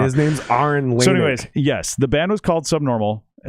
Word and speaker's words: Lanick: So It's actually Aaron Lanick, but yeah, Lonick.